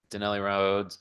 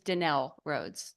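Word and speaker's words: Denell Rhodes: followed by Gregory Doyle that is not the correct pronunciation it's fine I'm used to that I'm not sensitive to it my name is denell rhods denell I'm sorry about that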